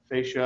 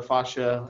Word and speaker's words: fascia: there's what we call superficial fascia or fascia as I've heard it pronounced and then there's more